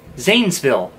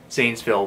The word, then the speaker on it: Zanesville: Most English speakers, when first trying to say the name of the city, will pronounce it as the way it looks. Zanesville. That's incorrect. Let's pronounce this the way that someone from Zanesville would.